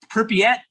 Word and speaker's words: Pripyat: So Baurice actually just got back from, and tell me how to pronounce it. It starts with a P. I think I'm saying it correctly. It's now Pripyat, Okay.